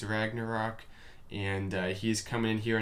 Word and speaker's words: Ragnarok: So anyway, we're looking at Ragnarok. I'm told that's how you say it. It's not Ragnar, okay, it's Ragnarok, and he's coming in here on number 8 with a minor attack.